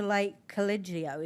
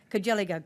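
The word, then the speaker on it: Lake Cargelligo: You worked in rural palliative care, covering the area from Lithgow to Lake Collegio. Is that pronounced correctly? Cogelligo, actually, what you should have said was no.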